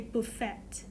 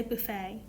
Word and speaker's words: buffet: thud water's buffet restaurant so the word buffet we don't really pronounce of T so we don't say bull FET we say buffet so buffet restaurant is